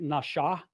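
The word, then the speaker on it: נשא: When it's over the right side, it's pronounced more like nasha. It's pronounced with a shh sound. When the dot is over the left, it's with a s sound.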